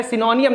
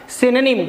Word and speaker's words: synonym: सिनोनिम नहीं कहना है, सिनोनियम नहीं कहना। इसे कहते हैं बच्चों क्या? सिनोनिम।